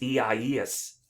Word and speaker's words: Isaias: have an interesting name it's a spanish name um it's ies i believe is the